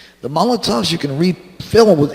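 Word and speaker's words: Molotow: l OT o w mala tau Molotov is how it's pronounced Molotov tens which are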